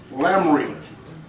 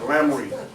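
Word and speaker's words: Laremy: That's L-A-R-E-M-Y, Lamry.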